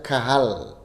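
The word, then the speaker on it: קהל: En el idioma del Antiguo Testamento se pronuncia kahal.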